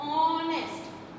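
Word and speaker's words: honest: नाउ see here, when we pronounce this word ऑनेस्ट, ऑनेस्ट, here H is silent. यहाँ पर जो एच है ये साइलेंट है, एंड we pronounce it ऑनेस्ट. और ये किसकी साउंड निकाल रहा है? ओ, ओ. ये ओ की साउंड निकाल रहा है, लाइक एन ऑरेंज.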